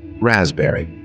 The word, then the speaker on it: raspberry: Raspberry. Here P is silent.